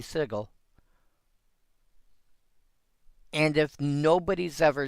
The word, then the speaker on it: sigil: If you do not actually know how to pronounce this word, si g i l. Well, it could be sigil or it could be sigle.